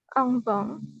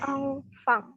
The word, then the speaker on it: enfant: Envang. Envang. F bukan V. F. Enfant. Enfant. Enfant. Bukan bang, tapi fang. Fang.